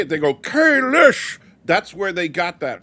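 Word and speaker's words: Kahless: Stan's question here about Holly Hunter teaching people how to pronounce Kalis because they say Kalish.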